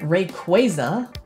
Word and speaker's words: Rayquaza: sometimes Rick was a-- or to pronounce its name properly Rayquaza because the name comes from Ray & quasar is a dragon and